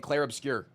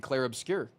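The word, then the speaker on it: Clair Obscur: But people told me I was a white guy for saying Clare obscure, but that's how they say it in the song.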